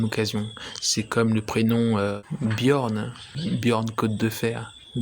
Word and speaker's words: Björn: c'est comme le prénom Björn Bjorn code de fer ou même la chanteuse Bjorn on prononce pas genre on prononce bien le J se prononce comme un i parfois dans l'alphabet d'ailleurs